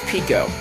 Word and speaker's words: Pico: goes Pico right there if that's the proper pronunciation I thought it was Michael at first because you know there's that high and and everything but it's Pico that's how the game pronounce that so have to go along Oh Mansu cheerful there